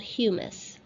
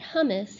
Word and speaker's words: humus: In some of those horizons is something called humus, not hummus. Hummus is what you eat, and it's spelled differently. This is humus.